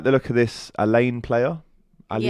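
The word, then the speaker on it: Aleyne: Um, I like the look of this Elaine player. Ali, is that how you say his name? Elaine. Yeah. A l e y.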